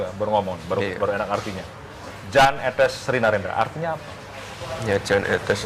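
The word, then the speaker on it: Jan Ethes Srinarendra: Yan, Jan, atau apa? Etes, Sri Narendra. Yang betul bagaimana? Jan Etes Sri Narendra.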